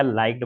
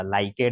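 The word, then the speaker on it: liked: हां लाइक्ड अच्छा किया लाइक्ड बोला लाइकेट नहीं बोला प्रैक्टिस की है सर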